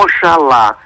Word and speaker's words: Oxalá: você faz Maira eh como Oxalá se escreve e se diz aliás exatamente como o o dialeto africano diz também Ox lá para aquela entidade né